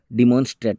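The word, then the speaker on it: demonstrate: হচ্ছে দাবি করা আর ডিমনস্ট্রেট মানে হচ্ছে প্রমাণ করে দেওয়া ডেমোনস্ট্রেট যেটাকে বলা হয় ডিমনস্ট্রেট নয় ডেমোনস্ট্রেট অর্থাৎ যেটা কি প্রমাণ করে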